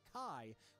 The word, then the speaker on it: chi: Another note is that the Kingdom Hearts series often uses the Greek letter chi, which the games pronounce indistinguishably with the English word key.